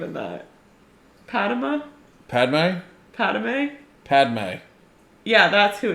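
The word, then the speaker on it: Padmé: mixed messages, and she's Padme, and she's like, "Anakin, we can't talk anymore," and he's like, "Okay." But no, that was... You're adding syllables to her name. Padme. It's Padme.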